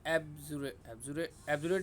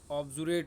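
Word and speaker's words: obdurate: ठीक है, ये एब्जुरेट नहीं है दोस्तों, इसमें स्पेलिंग मिस्टेक है। एब्जुरेट नहीं होता, ऑब्जुरेट होता है, ओ बी, ऑब्जुरेट होता है।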